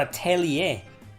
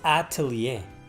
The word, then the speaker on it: Atelier: man i'll tell ya so it's not a tell ye it's atelier atelier fix the apple orchards